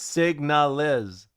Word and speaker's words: Signalis: It's signalis. Wait, I'm saying that, right? Signalis. I know that. But I use another language that's less understandable. So it doesn't matter. You understand me? Like, there's layers, emphasis on the second syllable.